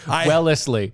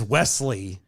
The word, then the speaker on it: Wellesley: said it wrong because my brain was reading it as wesley yeah and it is as well as lee but you said it